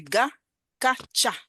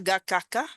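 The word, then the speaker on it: Gacaca: C'est Gakacha, on dit. Pas Gakaka, mais Gakacha.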